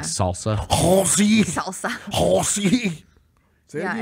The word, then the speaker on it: Halsey: Halsey. Yeah, why do you say it like the that? The S is more of a Z.